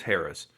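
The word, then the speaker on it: Harrah's: haraz or herrera's casino depending on how you pronounce it i think it's harris but i like saying harass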